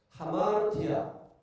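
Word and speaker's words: ἁμαρτία: 하마르티아. 이거 원래는 아마르티아입니다. 그런데 여기 쉼표로 거꾸로 해놓은 것은요, 이것을 발음할 때 숨을 내쉬면서 발음을 하라고 하는 기호입니다.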